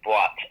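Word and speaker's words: Boite: called The Block um about b-o-i-t-e but pronounces blot um it's a it's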